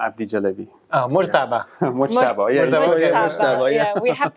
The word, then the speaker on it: Mojtaba: Mojtaba Abdi-Jalebi. Mojtaba. Mojtaba, Mojtaba, yeah, we have to learn to pronounce it properly.